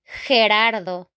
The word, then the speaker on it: Gerardo: If after the G we have E or I, we are going to pronounce H. H. Okay, like if it were a J.